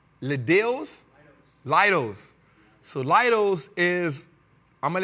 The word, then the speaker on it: Leidos: Now, I never can pronounce this right. Leidos? Leidos.